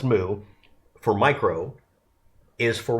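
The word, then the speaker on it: mu: The moo character, it's actually pronounced moo for micro is for 1 millionth.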